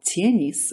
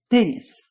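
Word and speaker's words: теннис: Even though words like these are spelled tienis with a soft t, they're pronounced tenis. The t is hard.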